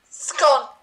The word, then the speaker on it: scone: Scone. Isn't it called I don't pronounce it that way. I pronounce it scun. Oh, you say scone. No, I say scun. Why do you say scone? Like done.